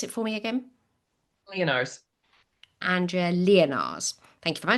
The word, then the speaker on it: Leonarz: Pronounce it for me again. Leonarz.